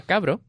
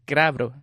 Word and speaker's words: crabro: Vespa cabro, por ejemplo, yo digo cabro, pero realmente el nombre es crabro. Tiene una R antes de la C que a mí me resulta impronunciable, así que lo que digo pues es cabro.